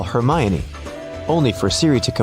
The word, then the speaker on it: Hermione: Call Hermione only for Siri to comply with calling Herion.